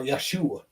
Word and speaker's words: Yeshua: did not exist and how you pronounce it was Yahwh or Yeshua is a basic it's a it's a derivative of the word Joshua Joshua, Yehuda, Judah.